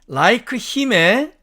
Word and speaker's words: like him: 자, 다음에 like him의 사전식 발음은 당연히 하나씩 읽으면 like him이 되겠죠. 그러나 실제로는 H가 탈락되기 때문에 빨리 읽으면 like him 이렇게 읽기 때문에 우리 귀에는 like him처럼 이렇게 들립니다.